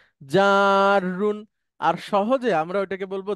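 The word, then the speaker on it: جر: আরবিতে উচ্চারণ, এই জন্য আমি বর্গীয় যাওয়ার পরে 3টা আকার দিছি, মানে একটু টেনে বলবেন, জাররুন।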